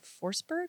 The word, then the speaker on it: Forsberg: and I said just say it he's like forsberg I said okay cool cuz I didn't know